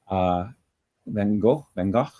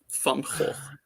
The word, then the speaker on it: van Gogh: Van Gogh. How would you pronounce his last name? Van Gogh. Van Gogh. Yeah. Van Gogh. Oh, right, with the G, right?